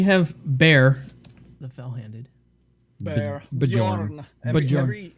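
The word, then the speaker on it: Björn: Bjorn. Every J is a Y. Just pronounce it like that.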